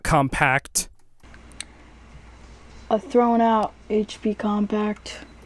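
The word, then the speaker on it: Compaq: It's uh pronounced compact, not compact.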